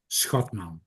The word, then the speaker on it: Schotman: For the fun of it, it pronounced Schotman.